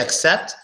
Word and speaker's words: except: accept it you're right the only difference i hear is that when i say the second word i pronounce the first vowel hard a little hard except when i say the first word you can barely hear the e in it so for example I'm